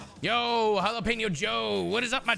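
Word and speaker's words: jalapeño: help you and three it's jalapeno not jalapeno for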